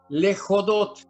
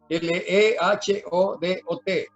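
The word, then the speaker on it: להודות: Lejodot. Lejodot con H. Lejodot. Lehodot. Lejodot.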